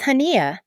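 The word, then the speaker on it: Hanya: It's Haneia, I explain, keeping my tone light. Like Tanya, but with an H.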